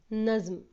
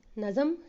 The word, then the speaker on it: نظم: اور میرے پیارے بچوں، یہ جو لفظ ہے اس کا تلفظ ہے نظم، اس کو کبھی بھی نظم نہیں پڑھنا چاہیے۔ چلیے اب ہم پڑھتے